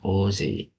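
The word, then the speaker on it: おおぜい: Ini nomor, ini Ozei, cara bacanya guys ya, Ozei.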